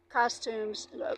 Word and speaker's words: costumes: suits and ladies um costumes. Actually suits are called costumes in French. They costume you don't pronounce the s in French even though it's plural.